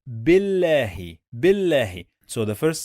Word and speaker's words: بالله: We have here lam with shadda. What does it mean? It means we are going to pronounce the letter 2 times.